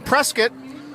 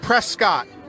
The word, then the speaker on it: Prescott: All right, so we're back here in Prescott. So let's talk about that pronunciation just before we go briefly. I mean, you look at it, it looks like Prescott.